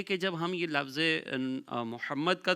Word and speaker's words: محمد: میں رکھیے گا کہ یہاں پر جو میم ہے اس کے اوپر تشدید ہے، محمد، اس طریقے سے یہ نام پروناؤنس کیا جائے گا۔ انگلش اسپیلنگ کے حوالے